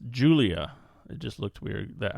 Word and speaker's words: Giulia: It's Julia.